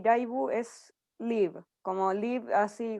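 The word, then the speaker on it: ライブ: Entonces lo que hacen típicamente es cambiarlo a una pronunciación como raibu, ¿cierto? Y también, por supuesto, la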